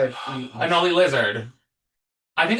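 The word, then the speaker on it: Anole: Anoli. Anola. It's like he's named after a lizard cuz he's a lizard type. Anoli lizard. I think it's Anoli.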